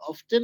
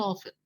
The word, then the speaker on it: often: Health professionals আর অফটেন, কোনটা উচ্চারণ সঠিক, অফটেন না অফেন? আর দুইটাই সঠিক।